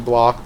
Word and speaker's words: Bloch: Psycho by Robert Bloch. I know it's actually Bloch, but you know. Sometimes I pronounce things the German way, for no particular reason.